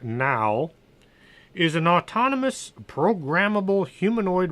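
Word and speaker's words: NAO: plain bad in a Oh which is pronounced now is an autonomous programmable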